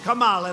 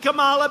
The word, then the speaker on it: Kamala: Kamala, like a comma.